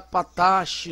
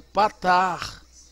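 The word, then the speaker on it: פַּתַח: Olha como é que termina com CH. Você não vai pronunciar patache, não, é patar. Todas as vezes que você visualizar um CH em hebraico, ele tem um som de 2 R's fortes.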